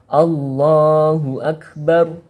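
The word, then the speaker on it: الله أكبر: Dan huruf kaf sukun ini tidak dari salah satu golongan huruf qalqalah tersebut. Maka bacanya harus dihamskan atau suaranya ditekan kemudian dikeluarkan nafasnya. Allahu Akbar, Allahu Akbar, Allahu Akbar.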